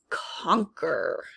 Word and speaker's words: conquer: rule that out and to my ear the q u sounds more like a c so we're gonna try